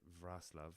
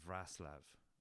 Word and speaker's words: Wrocław: Only took me about 3 months to realise that's how you say Wrocław, because it's spelled Raclav or Raclav. So it's Wrocław. I think that's the right pronunciation.